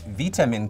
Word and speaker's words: vitamin: Well, again, the Americans and Canadians say vitamin, but actually vitamin comes from vita, meaning life.